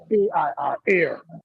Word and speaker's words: here: no no everyone oh air you know here h-e-r-e because jamaica don't pronounce the h so i have to spin it out so i air so it's similar but